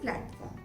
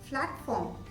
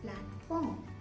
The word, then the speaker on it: platform: if you have the word let me say platform if you separate from or blood fund or something you won't believe i can hear some students saying flat form all these will sound wrong it's just platform so it has to be in a correct